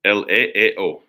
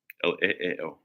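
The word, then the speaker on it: ἐλεέω: How do you pronounce it? Leeo. That's how you pronounce it. The spelling is ELEEO. Leeo.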